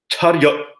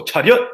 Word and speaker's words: 차렷: So 차렷 would be cha, and well, think of what the word rut, but then add a y into there. So ryut, 차렷. So rut, if you just